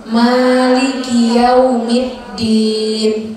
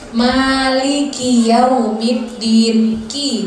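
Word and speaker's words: مالك يوم الدين: biasanya dimiliki kynya tuh kadang ada bacanya hilang jadi Malikiyaumiddin nggak jelas padahal itu ada lengkap berkasroh kas yang ada harokat kasroh jadi Maliki yaumid diin kinerja jelas maksudnya jangan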